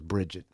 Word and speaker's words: Brijitte: way Bridget said um is it brid Bridget or Brigid I got a friend in New York named briged as well and she her she pronounces her name Bridget so I think Bridget West pronounces her is Bridget she said uh she